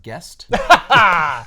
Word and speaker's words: Geist: spielberg you know uh that's a geist geist it's terrible yeah how do you spell that g-e-i-s-t that's pronounced guest guest star yeah and we're